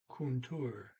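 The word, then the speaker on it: kontor: to, larens, the teachers, kuntur. It has two O's in it. K-O-N, kun, and then T-O-R, tour, kuntur.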